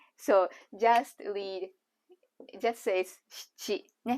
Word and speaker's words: 質: 質 or 七と読みます。